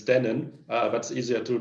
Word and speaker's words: Dennin: thank you so i i saw you struggling for my last name it's dannon that's easier to pronounce